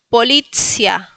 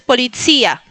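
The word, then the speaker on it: policja: Y no es polizía, es policia. Recuerden, tres sílabas, sílaba al medio, acento, o sea, en la segunda sílaba que es la li polizia. Y al último tenemos una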